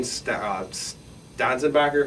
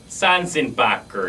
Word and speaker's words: Sanzenbacher: Wide receiver-wise, you have Dane Stanzenbacher. How do you pronounce that? Sanzenbacher.